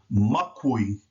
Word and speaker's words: makui: Now notice in this word, when you hear it pronounced, you're going to say the first syllable, mak. You know, M's are hard. As I said in the previous PowerPoint, that means that the vowel A that precedes the letter M has to be hard as well.